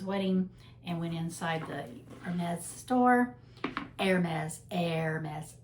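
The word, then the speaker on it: Hermès: and went inside the Hermes store. Hermes. Hermes. Hermes. Been trying to learn how to say it properly. The E R is like air. Like the air you breathe, Hermes.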